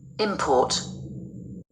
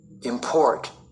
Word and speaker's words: import: noun or a verb, the noun will be tend to be stressed on the first syllable and the verb on the last syllable. Like Import. Import.